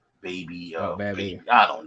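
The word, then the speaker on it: Bhabie: No, it's not Barbie. It's Baby. But it's spelled with an H.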